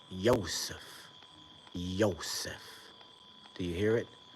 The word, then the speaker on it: Yosef: Why do you think Joseph is spelled or pronounced Joseph? It's Yosef, Yosef.